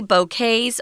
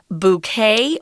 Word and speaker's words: bouquet: if they have any bouquets or you can pronounce this word bouquet or bouquet it's a French word that's why we don't say the T at the end and it's kind of